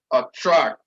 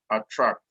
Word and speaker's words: attract: i tell them what just try pronouncing that word without opening your mouth so much attract attract so no matter how you try to hide that tract will always come out so that means that